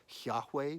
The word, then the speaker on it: Yahweh: Right, this word that's get written down as YHWH, some people think it's pronounced Yahweh, but we actually don't even know for sure how to pronounce it.